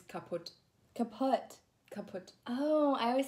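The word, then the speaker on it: kaputt: It's kaput. Kaput. Kaput. Oh, I always say kaput. You pronounce the U, but yeah, actually, kaput. You say, like, kaput.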